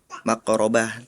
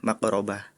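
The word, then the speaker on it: مَقْرَبَةٍ: Harusnya yang ayat 15 dibacakannya yatimang da makrobah, tapi tadi membacakannya matsrobah. Kemudian di ayat selanjutnya au miskinang da matsrobah, Ananda Farel membacanya makrobah. Jadi terbalik.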